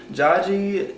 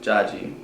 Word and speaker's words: Dziadzi: This is my Jaji. We used to call him Jaji growing up. Jaji is Polish for grandfather. So that's just what we always called him growing up. Jaji.